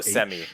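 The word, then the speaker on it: Hsemi: Semi, H-S-E-M-I. Oh, Semi. Gotcha. Is it? All right. There's really no H pronounced in his name.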